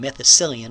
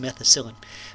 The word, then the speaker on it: methicillin: is methicillin so methicillin i keep saying methicillin but i think it's just methicillin methicillin is a stronger